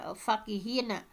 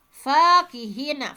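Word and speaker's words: فكهين: fqihina e fqihina ya bukan fakihina tetapi eh dibacanya seperti ini fiqirah fqihina Fanya panjang ya Bukan e fakihina bukan eh seperti ini Eh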